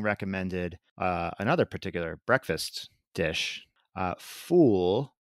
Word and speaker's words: ful: Ful, it's pronounced, I think it's spelled F-U-L, but ful is like this fava bean stew that people have for breakfast over there, I'm told.